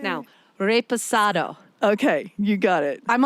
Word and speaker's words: reposado: i know how to say it correct now reposado okay you got it i'm on the i'm on the road to the correct pronunciation it's in such a culturally vibrant community